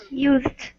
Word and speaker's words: used: So remember, computer used. Yeah, so remember. Used. Yeah. Sorry, used. No, not a problem. So remember, when it's an ED, most of the time we don't pronounce the E, except if there's a T.